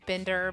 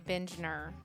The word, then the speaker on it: Bindner: We just say Binder, but technically you're supposed to say Bindner.